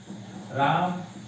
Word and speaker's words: रामः: इसका उच्चारण ह के समान होता है। जैसे राम के बाद हम विसर्ग लगाते हैं, इसे पढ़ते हैं रामः।